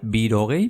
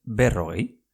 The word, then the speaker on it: berrogei: Pues sería 2 veces 20, berrogei. No es exactamente así, no sería birogei, pero es berrogei. ¿Y cómo sería 41? Berrogeita bat.